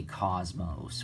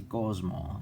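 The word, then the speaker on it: κόσμος: that's and that's actually we don't say cosmos we say gosmo you know the s is silent a lot of what's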